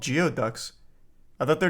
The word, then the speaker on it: geoduck: don't know they're called geoducks I thought their name started with a V these are the the penis things it's pronounced gooey duck oh I used to